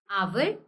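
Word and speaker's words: hour: हैं for example an आवर यहां पर एच साइलेंट है और ओ की साउंड आ रही है आवर ओके आवर सो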